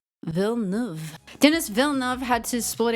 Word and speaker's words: Villeneuve: Pronunciation. Villeneuve.